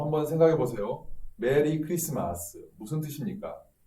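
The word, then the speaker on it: Xmas: 어떤 뜻인지 알아 보겠습니다 원래는 크리스마스 라고 읽어야 합니다 왜 그렇습니까 x 라는 것은 헬라어의 크리스토스 헬러 에 그린 소스 의 첫글자 x 이거를 나서 어 줄여서 약식으로 부르고스 거죠 그래서 우리는 읽을 때는 크리스마스 라고 읽어야 맞는거 자 크리스 말씀으로 뭐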